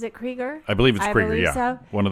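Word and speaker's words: Krieger: uh we have musician Robbie creger correct he's pronounces it creger I believe it'ser one of the founders of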